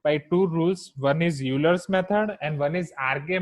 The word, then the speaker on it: Euler: Now, first method, Euler's method, or in foreign countries, its pronunciation is Euler.